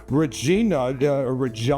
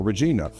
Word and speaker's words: Regina: Regina is the correct pronunciation, actually. Its Latin name means queen, and Regina is the correct answer, or Regina.